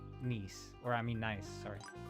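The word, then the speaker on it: gneiss: G N E I S is pronounced nice.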